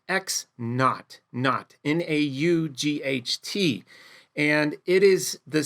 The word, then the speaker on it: naught: It's pronounced X naught, N-A-U-G-H-T.